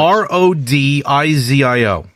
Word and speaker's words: Rodizio: Spell it for me, please. R-O-D-I-Z-I-O.